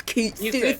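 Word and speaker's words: Cait Sith: That's not how you pronounce it, loser. It's Kate Sith, motherfucker.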